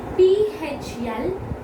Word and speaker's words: phlegm: P-H-L-E-G-M. That also has G, but N or M. If the G is before N or M, it will go silent.